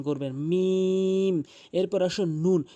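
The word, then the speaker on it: ن: এরপর আসুন নুন। মুখটি গোলাকার করে এভাবে নুন। এরপর আসুন ওয়াও।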